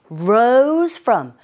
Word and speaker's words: rose from: was it 바로 이거였죠 rose from 우리가 잘 안 되는 발음 중에 하나가 R 운죠이 발음 하실 때는 혀가 입 안에서 어디에도 닿지 않으시게 발음하시면 됩니다 rose From from 자